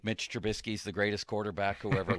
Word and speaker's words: Trubisky: Can't you just say into the mic, the Steelers have signed Mitch Trubisky? Could you do that for us? What makes you think I can pronounce his name?